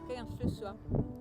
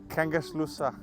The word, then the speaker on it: Kangerlussuaq: Hvordan udtaler man det? Kangerlussuaq. Kangerlussuaq.